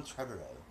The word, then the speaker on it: Trevorrow: I keep reminding myself it rhymes with tomorrow, but it doesn't flow. So hard. I thought you were British this whole time, man. I thought your name was Colin Trevorrow.